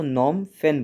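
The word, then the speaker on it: Phnom Penh: नॉन-फेन इसकी राजधानी है ये फ इसमें साइलेंट रहता है तो नॉर्म फैन बोला जाता है इसको और इसकी जो करेंसी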